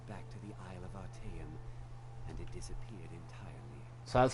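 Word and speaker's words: Artaeum: order were called back to the Isle of our team so that's how you pronounce our time all right 75 I could have stopped at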